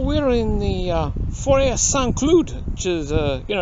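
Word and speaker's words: Saint-Cloud: in the uh for S clude which is uh you know in English it would be Saint Cloud but that's not how they say it here it sounds like uh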